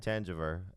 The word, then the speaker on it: Thanjavur: So it was Tangiver, and then he wrote back.